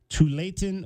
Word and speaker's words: Tualatin: Josiah Lake, freshman guard from Tualatin, Oregon. South of Portland. Is that the correct way to pronounce that, Sure.